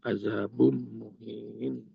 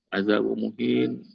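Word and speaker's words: عذاب مهين: Tapi karena ilmu tajwid, azabum ketemu dengan mim, jadi ditasdidkan. Gunnah azabum muhin.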